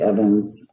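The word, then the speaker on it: Ewans: pronounce my name correctly it is spelled with a W but it is pronounced Evans um it's because it's uh comes from a German origin where W's and V's are swapped um so almost nobody pronounces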